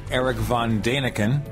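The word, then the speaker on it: Erich von Däniken: Paul area but they mentioned of course the ancient astronauts guy erich von daniken or as it is properly pronounced erich von daniken that's what Bob sadati told us and Bob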